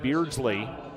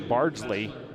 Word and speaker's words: Bardsley: into the ball game JC Beardsley should be Bardsley JC Bardsley make sure I'm